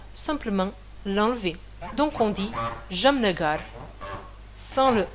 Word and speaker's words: Jamnagar: Par exemple, Matthäus, il habite à Jamnagar, qu'en réalité, on écrit Jamnagara. Jamnagara. Mais personne dit ça, parce que le A, il est faible.